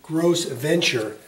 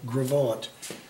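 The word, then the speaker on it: Gros Ventre: series titled gravant river the american spelling or pronunciation would probably be gross adventure but the french is uh gravant this is a river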